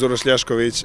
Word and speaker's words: Uroš Ljašković: My name is Uroš Ljašković, and I come from Montenegro.